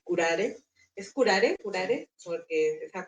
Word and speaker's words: Curare: Es curare. Porque esa pronunciación también es dije cómo se pronunciara y está está bien.